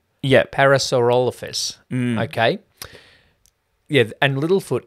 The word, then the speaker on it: Parasaurolophus: I need an 8-year-old autistic boy to be able to pronounce some of these dinosaur names. Parasaurolophus. Yeah. Parasaurolophus.